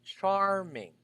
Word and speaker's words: charming: you're looking for charming if we're going to divide it into syllables that's char first part is char c h a r and then the rest is not charming but char you need to give emphasis to the letter r char ming cha cha yes